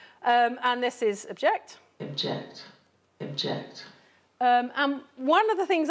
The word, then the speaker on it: object: So we say object. We don't say object, object. It's object. We would reduce that vowel.